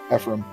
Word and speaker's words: Ephraim: How do you pronounce that? Ephraim.